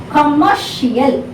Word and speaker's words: commercial: So before this last syllable suffix, whatever you have to stress. That's what I said. So commercial, this has to be stressed, not commercial. You should not say commercial, no, commercial.